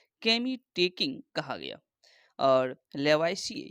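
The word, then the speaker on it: Lavoisier: प्रारंभ में रसायन विज्ञान के अध्ययन को केमी टेकिंग कहा गया और लेवाइसी यानी कि लेबोजियर, इस इंग्लिश में इसका जो उच्चारण हो जाएगा लेबोजियर।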